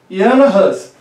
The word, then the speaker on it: Jan Hus: Veja, o nome dele, isso é muito importante, eu estou pronunciando em tcheco, tá? Jan Hus.